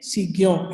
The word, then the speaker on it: Saignant: Okay, Signon. It is written Saignant, but it is pronounced as Signon.